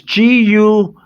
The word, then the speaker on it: Guillaume: Guillaume is it's a G. You can't see it. I'm sorry. It's Guillaume. Guillaume.